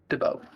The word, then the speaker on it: DeBow: It's spelled with a U instead of a EAU. So it's DEBU, DeBow.